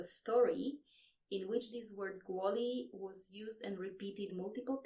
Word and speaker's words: kvôli: It is pronounced kvôli or kvôli. So let's start from the middle. This letter, the O with the roof, is pronounced wo.